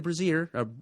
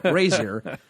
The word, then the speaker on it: brazier: to shazam's uh death chamber and light the braier I always pronounce it yes for women's Liberation no light the brazer I always mispronounce that word Brazier wonder what I'm thinking of and shazam's spirit